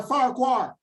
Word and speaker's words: Farquhar: i know fuckabish leo no it's spelled f-a-r-q-u-a-r farquhar i would pronounce it right peter phillips